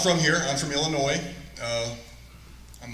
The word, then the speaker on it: Illinois: I'm from Illinois. I'm not necessarily proud of that. The S is silent. Anybody that says Illinois, they're not from Illinois.